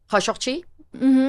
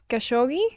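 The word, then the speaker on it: Khashoggi: the name of um Kashoki. Correct. Someone uh correct my pronunciation. Kashogi.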